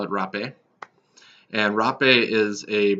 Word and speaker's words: Rapé: most often it's called repay or some people pronounce it ha pay and it has a bunch of other different tribal names but I usually call it rap a and Rob a is